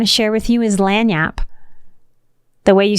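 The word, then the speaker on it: lagniappe: word I want to share with you is lanap the way you spell it is l a g n i a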